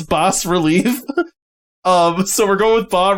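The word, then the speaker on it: bas-relief: I'd heard it pronounced bas relief, but I believe it is pronounced bas. It's spelled bas relief. Yes, yeah. But I think the S is silent.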